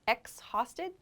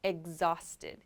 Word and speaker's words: exhausted: an x x so this e x sounds like egg actually it's making like a g sound almost so not exhausted but exhausted exhausted i'm exhausted exhausted